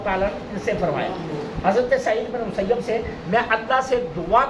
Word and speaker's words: سعید بن مسیب: رضی اللہ تعالیٰ عنہ، یہ یاد رکھنا سعید بن مسیب یہ اصل تلفظ ہے۔ پرسوں ایک دوست جہاں درس دے رہے تھے تو انہوں نے نام پڑھا سعید بن مصیب، سعید بن مصیب نہیں ہے، سعید بن مسیب یہ تلفظ ہے صحیح، ٹھیک ہے۔ حضرت سعید